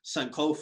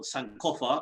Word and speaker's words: Sankofa: got great admiration for the name sankofa or sankofa as some guardians will pronounce it is actually from the